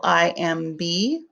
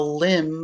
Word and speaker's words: limb: another name for tree branch lim l i m b the m b says um lim l l-i-m-b looks like that dog is hanging from the limb of the tree or